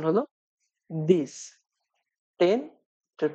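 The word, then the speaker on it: dix: 9 এটার প্রোনাউন্সিয়েশন হলো নার্ভ এবং সবশেষ 10 এটার প্রোনাউন্সিয়েশন হলো দিস।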